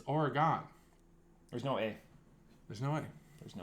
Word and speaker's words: Oregon: would ever be envelope it's just like Oregon and or Oregon there's no a in there there's no